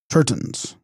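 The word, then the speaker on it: གཏེར་སྟོན: their teachings were called turtons from Tibetan gurston pronounced turton meaning revealer of treasure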